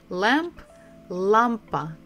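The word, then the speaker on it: лампа: pretty much the same Lampa Lampa we stress the first syllable La Lampa Lampa Lampa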